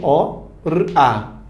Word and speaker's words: hora: O H, na língua portuguesa, nunca tem som. Nunca tem som. Nunca. Você tá vendo aqui a palavra hora, tá? 2 sílabas. Você fala, professor, ele não tem som. O, R, A. Ora. Foram 3 fonemas.